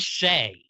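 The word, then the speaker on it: Shai: says Shay. Yeah. He Oh, always says AI. Oh, as Brandon. No. No. It's No. only contested because Brandon says it not like shy.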